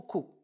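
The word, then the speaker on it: coup: Troisième exemple, nous avons cou. Je l'ai placé exprès parce qu'il se termine par un P. Mais ici, c'est pour l'œil, mais pas pour l'oreille. Rappelez-vous ce que j'ai dit tout à l'heure. Cou. Ce que nous prononçons, c'est la voyelle OU.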